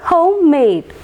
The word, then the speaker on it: homemade: And next one, homemade. Here also both the syllables are stressed.